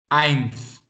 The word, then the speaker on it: Eins: EI, it is pronounced as I. I. Okay. So can you tell me what would be the pronunciation of this? Eins.